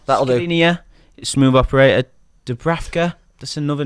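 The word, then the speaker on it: Škriniar: Skriniar. That'll do. Skriniar.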